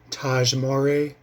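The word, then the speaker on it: Tahj Mowry: teenagers picks a fight with him played by Taj Mory that's how you say his name um so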